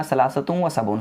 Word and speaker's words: ثلاثة وسبعون: 73 का अरबिक में प्रोनाउंसिएशन होगा सलासतुम व सबऊन।